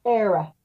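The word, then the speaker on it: Éire: Era. How do you pronounce that? Era.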